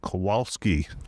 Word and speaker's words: Kowalske: Today I have Zack and Kowalske. Yes, that's correct? Yeah. Okay, that's proper pronunciation.